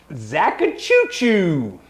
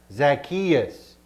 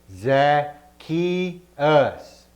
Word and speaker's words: Zacchaeus: that's the new command love one another so who are we talking about tonight zakka chuchu no it's pronounced zacchaeus zaza chino no say it with me za ki us zak cheeto i don't think he's ever gonna